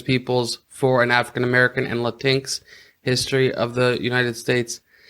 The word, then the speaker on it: Latinx: the fourth book is I'm sure some people would pronounce it Latin X instead of latinx I actually love that